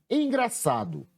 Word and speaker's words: engraçado: Foi a sílaba sa.